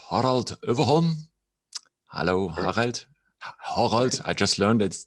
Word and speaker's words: Överholm: he is called harald overhaul hello i just learned that that's the way we should pronounce it in swedish thank you thank you